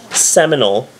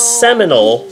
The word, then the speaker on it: Seminole: But if you are from Seminole, you take out the L and the E at the end of Seminole, and you just stretch out an O. So it's Seminole, Oklahoma, unless you're from